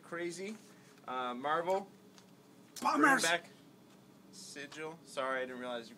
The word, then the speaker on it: Sigil: Sigil. Sorry, I didn't realize you grabbed that. We're thinking a lot alike this week. It's pronounced Sigile.